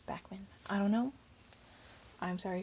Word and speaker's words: Backman: For adapted to screen, I'm gonna go for Beartown by Frederick Backman. Bachman. I feel like if it was Bachman, it would be an H, like because it's a K. It's Backman.